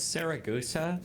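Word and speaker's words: Siragusa: Sarrausa, that's how you pronounce that.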